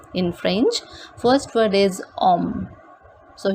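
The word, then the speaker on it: homme: french first word is om so here we are not pronouncing this h the pronunciation of this word is like om second we have och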